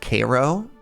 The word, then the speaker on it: Cairo: In Illinois, there's a Cairo that's pronounced Cairo order.